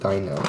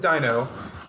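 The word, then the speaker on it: Deino: had this argument yesterday do you pronounce it Dano Deanna I pronounce it Dino yeah you pronounce it you pronounce it Dino I pronounce it Dino yeah which is weird it's spelled d-e-i-n-o yes how how old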